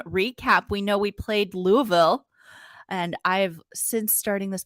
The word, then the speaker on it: Louisville: Exactly how you say it. I grew up an hour and a half west of Louisville in Indiana, so certainly grew up saying that.